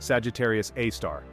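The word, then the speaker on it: Sagittarius A*: giant Sagittarius A asterisk pronounced Sagittarius AAR the super massive black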